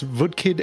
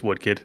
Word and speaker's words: Woodkid: for Ghost of Yotay, and I'm going to mispronounce this. I'm going to guess VKid and Lugvig Forsel for Death Stranding 2 on the beach. I love that you got the one wrong right. It's Woodkid.